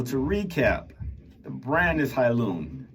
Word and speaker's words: Hailun: so far so to recap the brand is hilon it's spelled h AI l n Company from China